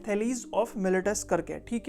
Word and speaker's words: Thales: आप में से बहुत सारे लोग उसको थेल्स पढ़ते होंगे उस मैथमेटिशियन का नाम, लेकिन एक्चुअल में उनका करेक्ट प्रोनाउंसिएशन जो है वो थेलीज ही है।